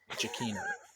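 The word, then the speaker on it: Giacchino: in in jino's name the Double C and the H that's that's that's always going to be a hard C so so it's so it's jakino jakino NE Mel jino okay got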